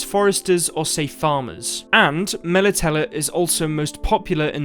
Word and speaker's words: Melitele: of people pronounce it military but also a lot of people pronounce it mela teller so it seems to be kind of an interchangeable pronunciation for this word i'm not entirely sure